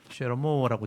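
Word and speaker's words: שְׁלֹמֹה: 원래 히브리 발음은 쉐로모라고 되어 있어요.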